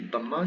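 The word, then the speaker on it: ضمة: Voilà, son nom ici, damma, c'est un ou. Bref, donc elle se prononce tout simplement ou. Et exactement comme pour la double fatha, ici c'est une double damma.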